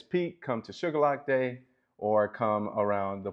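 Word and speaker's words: Shuqualak: Not lock your door because it's dangerous, but simply to illustrate how we pronunciate Sugar Lock, as in Sugar Lock. But it's actually Shaquela.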